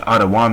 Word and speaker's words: Edom: see adam in there which adawam is how you say edom or they might see